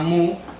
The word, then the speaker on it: mu: través de un símbolo una letra griega que se llama mu o que a veces se pronuncia también como New y que quiere decir